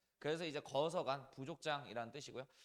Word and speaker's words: 거서간: 칸을 한자식으로 발음하면 간이에요. 그래서 이제 거서간 부족장이라는 뜻이고요.